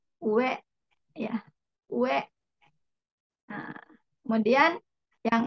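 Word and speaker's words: 上: Dibacanya ue ya.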